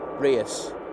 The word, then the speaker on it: Reus: Uh Ryan Air 737 Max 8 to Oh, I better say it right cuz I said Royce yesterday and I got pulled up by Michael for it. Reus.